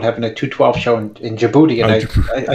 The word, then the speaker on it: Djibouti: Yeah, we used to call it Djibouti because it has the D in it. Yeah, the D is silent. Yeah, the D is silent.